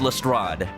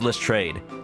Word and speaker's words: Lestrade: has french heritage like they've adopted the different pronunciation because they're pretty much just english at this point so they pronounce it themselves as list trade i i looked it